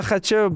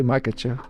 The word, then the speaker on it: Makhachev: How do you pronounce? I want to make sure I say your last name right. Makachev. Makache. Makachev. I was wondering I don't want to get in a fight right now. Makacho.